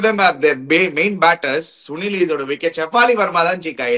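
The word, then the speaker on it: Sune Luus: என்ன அந்த actually it's சுனில் lease, அவங்களோட பேர் வந்து ப்ரொனவுன்ஸ்மெண்ட் வந்து சுனில் லீஸ்ன்னு ப்ரொனவுன்ஸ் பண்ணுவாங்க.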